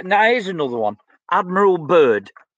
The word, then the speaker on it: Byrd: I've looked at little bits and pieces, but it's spelled B-Y-R-D, Byrd, Admiral Byrd. Check him out, Admiral. He's an admiral, for God's sake. This guy's not a nutcase. Admiral B-Y-R-D. Admiral Byrd.